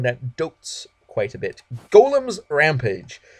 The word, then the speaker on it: golem: dotes quite a bit golems rampage I don't know why some people say Gollum Gollum is spelled with a u and two L's and is just a different word Gollum Gollum it's a comes